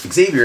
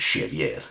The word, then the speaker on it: Xavier: But yeah, he was almost named Parker, but we went with Xavier, which works out because in Portuguese that's pronounced Xavier, which sounds pretty cool.